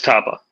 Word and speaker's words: topo: It's topo because it's topography, right? Yeah, it's tapa.